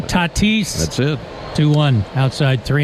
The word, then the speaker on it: Tatis: Tatis.